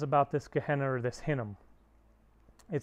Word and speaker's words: Hinnom: And in Hebrew, in the Old Testament, instead of saying Gehenna is how you say it in Greek, you said Hinnom, verse 10.